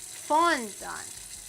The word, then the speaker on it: fondant: They put emphasis on the first syllable. Fondant.